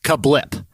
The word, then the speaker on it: CABLT: It is spelled CABLT. CABLT, and it's pronounced Kablip. Okay, the restaurant is called Kablip, so it happens to be an acronym for Criss Angel Breakfast, Lunch, and Pizza.